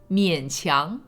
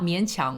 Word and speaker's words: 勉强: out the words 勉强, each word it should be pronounced 勉强, like third tone and then second tone, not 勉强, which is how we say it, which is second tone and then third tone.